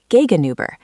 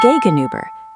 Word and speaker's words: gegenüber: Next to is neben, opposite is gegenüber, and behind is hinter. Let's try neben. Repeat after me. Neben. Neben. Wonderful. Now, gegenüber. The U is like saying E, but with your lips rounded.